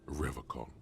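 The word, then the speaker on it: Revachol: He pronounces Revacol with a hard K, unlike other people. Revacol? I like to pronounce it the hard way.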